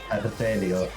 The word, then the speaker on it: Hartelio: Artelio. Yo de por sí, yo no conozco a Artelio o Artelio. The H is silent in many situations.